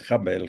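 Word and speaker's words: הבל: Ya eh les he mencionado alguna vez que el hebreo no tiene vocales, solo consonante. De manera que la vocalización depende un poco del contexto, de los lugares donde eh geográficos donde se pronuncia, pero la lectura que hacen los rabinos, por lo menos, es jabel.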